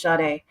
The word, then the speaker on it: Sade: So I said her name wrong. Her name is Sade.